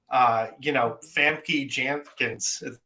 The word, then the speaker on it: Famke Janssen: Robert Patrick, Bebe Neuwirth, Famke Janssen.